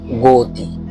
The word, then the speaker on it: গতি: এক্ষেত্রে গ এর পাশে আমরা ওকার বসাইছি। যেমন গতি গতি অর্থাৎ সরু বর্ণটি যেখানে গোপন অবস্থায় উচ্চারণ হবে সেখানে উকার বসবে।